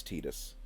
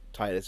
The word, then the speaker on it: Tidus: Is it Titus? It's Tidus. But Titus is the way you pronounce it if you want to be inaccurate but sound less stupid.